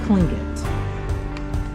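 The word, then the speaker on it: Tlingit: So the T is a K. He said it's Klingit.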